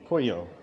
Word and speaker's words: Puyo: difference uh I'm in poo it's p yo but it's pronounced just like the name chicken in Spanish and this week I've